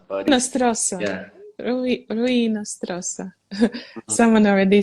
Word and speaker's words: Hinostroza: Pronounce the H at the beginning, so it's Hinostroza. Hinostroza.